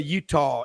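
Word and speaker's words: Eutaw: you go to reform you go to Utah and folks that is spelled eut t a w w in fact Rob we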